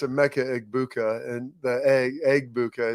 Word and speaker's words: Emeka Egbuka: And everybody puts like the G, it's a Emeka Egbuka, and the Egbuka, it's a Emeka Egbuka there.